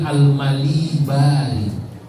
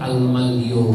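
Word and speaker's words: al-Malibari: 3 Aliyah saya lupa Zainudin almali Bali santri Banyak yang salah waktu pertama baca karena nggak ada harokatnya bacanya Syekh Zainuddin Al Maliki padahal dari malam diceritakan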